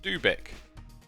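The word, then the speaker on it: dubigk: dub igk here for 22. i should really tell you that my username is pronounced dubik i kind of like it when you call me dub igk so you do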